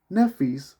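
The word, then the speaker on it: Nephthys: I said Nephis, which is spelled Nepthys, who was the dark-skinned sister of Isis, will not be the only dark-skinned sister in this presentation.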